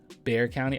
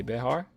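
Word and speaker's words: Bexar: don't know about you Bear County oh that's how you say it Bear County okay it's pronounced bear what'd I say Behar yeah bear okay okay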